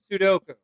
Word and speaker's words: Sudoku: Do you like to do Sudoku? Oh, yeah. Did you? Sudoku. So that's how. Sudoku, yeah. That's how I say it. The U's are on the both ends. Sudoku.